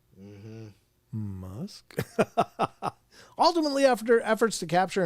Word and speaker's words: Musk: Rhymes with tusk. Mm-hmm. Musk.